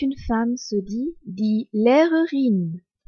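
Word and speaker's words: Lehrerin: professeur quand c'est une femme se dit dit l'erurine l e h r e r i n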